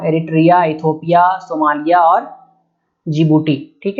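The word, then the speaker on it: Djibouti: तो यहाँ सबसे छोटा आप देख रहे हैं ये जिबूटी है, डी यहाँ पे साइलेंट होता है, ये जिबूटी है।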